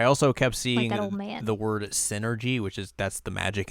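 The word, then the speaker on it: Psynergy: to look at that and say it was s energy s energy like psychic energy maybe it is maybe that's how it's pronounced but it's definitely Synergy you think so yeah because that's how it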